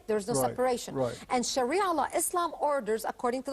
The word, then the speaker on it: Sharia: us a little bit about how do you pronounce the shiara law Sharia law Sharia law okay and Sharia law is